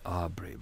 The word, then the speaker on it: Aubrey: he said and and benjamin said oh don't you mean aubrey said no no it was always arbrey beardsley so um i was